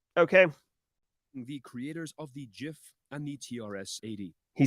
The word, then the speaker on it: GIF: Wilhite always insisted the name be pronounced as GIF with a soft G.